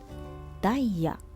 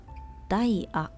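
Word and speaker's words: ダイヤ: We call daia or daia. Obviously, it's from English word diamond. Just using this part, daia.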